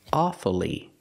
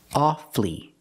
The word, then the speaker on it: awfully: U following the rule awfully but it's not very common it's more common to hear a offly and not pronounce the U offly two syllable the U is silent this is more common